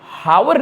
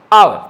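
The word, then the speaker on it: hour: अभी ये अगर पढ़े तो इसे हावर नहीं पढ़ा जाता है। क्या पढ़ा जाता है? आवर।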